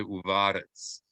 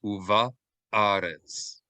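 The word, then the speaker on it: ובארץ: You want to say uva-arets. Like we should hear them separately. U-va-a, va-a, uva-aret. Did that make sense? So instead of uvarets, we want to say uva-arets. Hear every syllable clearly.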